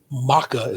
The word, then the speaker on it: mocha: But let's begin with Jasmine who's going for maca as they call it, but you know, mocha as we call it.